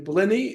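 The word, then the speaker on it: Blinne: Blinny is how you pronounce her name?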